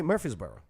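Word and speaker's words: Murfreesboro: do they say it but they say Murphy's Burrow Murphy's oh instead of the r they neglect this R just like in the second month of the year which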